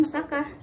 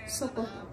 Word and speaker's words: saka: Selanjutnya, saka. Dalam dialek Tegal diucapkan saka. Tidak seperti bahasa Jawa Wetanan yang mengucapkannya dengan kata soko.